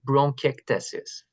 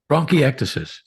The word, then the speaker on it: bronchiectasis: for a patient with bronch tesis bronchiectasis perfect that very close Dylan that was very good yeah good yes yes